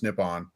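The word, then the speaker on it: Nippon: literally the name for Japan in Japanese is nipon it's pronounced yeah so um maybe they are maybe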